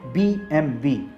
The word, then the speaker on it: BMW: BMW ही पड़ते हैं लेकिन रेड्डी इसे BMW नहीं पढ़ा जाता इस का सही उच्चारण है बीबीएमबी अब यह कैसे हुआ